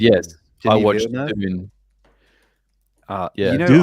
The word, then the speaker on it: Dune: is this a June? June? Dune.